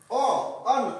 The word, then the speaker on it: a: ए का शुद्ध उच्चारण अ होता है, ए एन का